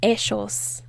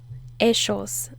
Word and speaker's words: ellos: out loud yes and if you're going to be traveling to argentina then say eshos eschos they'll like that a